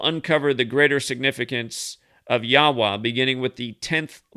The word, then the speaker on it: Yahweh: the numerical value of y h w h pronounced yahweh and written in hebrew as and then you